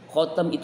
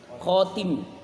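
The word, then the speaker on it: خاتم: inienut ya orang Ahmadiyah khotam itu arti cincin bacanya bukan khotami tapi khatim khotim cincin dari cincin Nabi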